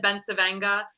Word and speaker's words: Bencivenga: um I think because growing up we always said Ben savenga that's just how we did it but so many people